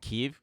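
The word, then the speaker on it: Kyiv: you see it it's amazing how quickly people learned how to say keeve yeah yeah i thought it was kiev this whole time i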